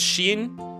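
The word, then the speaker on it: シン: Oh, because it's pronounced as Shin, which also means death, right?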